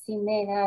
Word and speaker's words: Ximena: Ella es Paula Jimena García, Ximena, así se pronuncia bien.